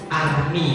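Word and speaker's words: Hermès: Hermes salah yang ngomong Hermes berarti belum punya Nah kenapa makrojnya masih salah bukan Hermes Army panggilnya itu loh kok Hermes tulisannya bacanya Army ya itulah bahasa Perancis kan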